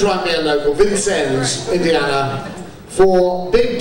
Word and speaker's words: Vincennes: How do you pronounce it locally? Officially, it's Vincennes, but you can say Vincois if you'd like. Vincois. I'm going to try and be a local. Vincennes, Indiana, for Big D, Beetle Opportunity Knox.